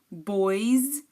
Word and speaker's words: boys: Boys, you hear the boys, the S is pronounced as a Z, so تحت Z.